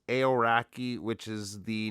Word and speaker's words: Aoraki: I looked it up and I think it's pronounced aoraki which is the name of the tallest mountain